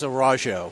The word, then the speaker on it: Araujo: do you say it I say it as a raw show a raw show and people have told me no you're saying it rose a your name for